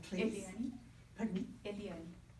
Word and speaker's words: Eliane: Eliane. Pardon me? Eliane. How do you spell that? E-L-I-A-N-E.